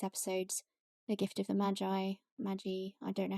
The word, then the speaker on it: Magi: Henry because we already talked about him on one of our previous episodes, The Gift of the Magi, I don't know how you say it.